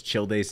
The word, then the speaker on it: Childe: You wanna know why I don't pronounce Childe's name how it's properly pronounced? Like child?